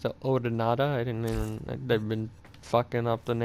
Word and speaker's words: Odonata: baylor for maureen's launched their first attack it's pronounced the odonada i didn't mean they've been